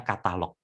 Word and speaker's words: Katalogue: Katalog kalau ditulis itu katalog gue, tetapi membacanya katalog.